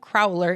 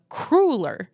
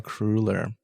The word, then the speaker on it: cruller: It's not a crowler, it's a cruller. A cruller. It's of Dutch, German, Polish origin, says Kyle. So take the word ruler, like the measuring thing, and put either a